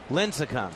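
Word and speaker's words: Lincecum: you think of of Tim uh was it linum how do you say his name linum linum yes he's been good today he's had a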